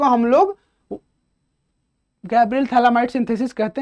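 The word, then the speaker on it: Phthalimide: आगे बढ़ते हैं, गैब्रियल थैलामाइड सिंथेसिस कुछ उसी तरह का है। बेसिकली क्या है, यहां से इसको हम लोग थैलीमाइड बोलते हैं। ठीक है, PHTH, थोड़ा सा इन यूनिक स्पेलिंग है इसका, PHTHALIMID, थैलीमाइड।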